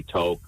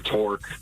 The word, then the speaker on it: toque: And I love hearing all the mispronunciations of that word all around the planet. Americans say toque, I think, or torque sometimes. But toque is a very specifically Canadian word.